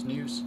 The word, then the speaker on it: snus: I call it snus most of the time, but it's actually pronounced snooze.